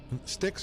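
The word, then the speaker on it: Styx: know wrote the year son you might know sticks or what ac/dc damn I'm just like thinking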